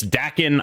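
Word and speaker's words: Daken: impact of the new seasonal card is it Dakin I feel like it's it's it no one knows what it is but it's provocative yeah it gets the people going it's it's Dakin I don't care I don't care if you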